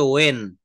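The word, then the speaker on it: when: তো এখানে হোয়েন দ্বারা, হোয়েন উচ্চারণ করবে না, এটা বলতে হবে ওয়েন।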